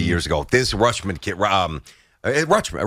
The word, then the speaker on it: Rutschman: Rutschman. Rushman. I said it right, Rushman. right? Rushman. Yeah, Rushman. You just kind of swallow the T.